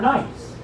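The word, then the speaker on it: gneiss: No, really, G-N-E-I-S-S, scientific name pronounced nice.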